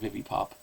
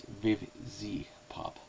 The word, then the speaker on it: Vivziepop: these episodes notice, and that is I was mispronouncing Vivzipop's hashtag. I was saying Vivipop or Vizipop, but it's Vivzipop.